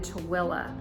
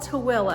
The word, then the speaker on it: Tooele: This subdivision that they're building is located in Tooele. So it's called Tooele. It's spelled T-O-O-E-L-E. A lot of people say Tooele, but it's not Tooele, it's Tooele, Utah.